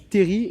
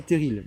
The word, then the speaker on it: terril: le fait tous mais dans le nord on dit terry est pas terrible donc voilà c'est une petite petite prononciation à la nordique voilà donc on dit terry et non terrible ça je viens de